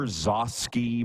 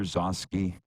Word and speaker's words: Gzowski: Peter Zosky? No. I feel that's bad fine. Okay. Are you getting a lesson here today? Folks, sorry, Producer Clark, can you please Google Peter Zosky? It's spelled Gzowski.